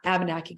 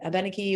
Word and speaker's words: Abenaki: on setting up an Abenaki garden. And there's a need for people, the Abenaki or Abenaki, you'll hear both pronunciations, for food and sustenance